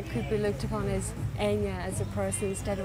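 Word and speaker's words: Eithne: It's E-I-T-H-N-A, but it's pronounced Enya in Irish.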